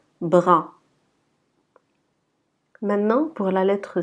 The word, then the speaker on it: bras: Remarquez que la lettre S à la fin, on ne la prononce pas. C'est une lettre muette. Donc on dit bras.